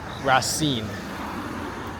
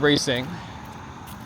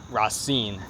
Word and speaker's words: Racing: So, and it is the right pronunciation. It turns out rasine. It's not racing. It's not rasing as in French. It's rasine.